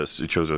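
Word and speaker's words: Chozo: The Koso runes, I guess. Um uh Choso runes, sorry.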